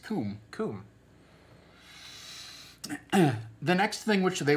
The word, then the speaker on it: cwm: never ever say anything when you see CWM you think you think oh this is this is this is celtic and therefore it's obviously pronounced kun kun the next thing which